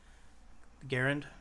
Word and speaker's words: Garand: rifle the the ground garand the garand the thing is the way the rifle is pronounced is different from the way the man's name was but enemies be the